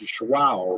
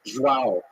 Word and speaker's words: João: And I know I mispronounced it, it's João, right? Olivia, is that how you say it? João. But I like saying it João, though it's not right.